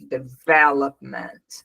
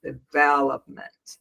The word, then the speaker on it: development: So the problem here is because we put the stress syllable here, but it's here. Development, development, development.